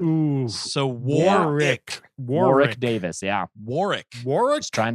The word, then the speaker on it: Warwick: times Warwick Warwick Warwick don't pronounce that middle W ooh so Warwick War Rick Davis yeah Warwick Warwick's